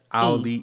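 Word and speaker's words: Auliʻi: Yeah, Alihi.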